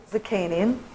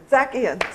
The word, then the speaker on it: Zakian: I recently interviewed Robert Zakian. No, I said it wrong again. Zakian. See, I've said it wrong twice.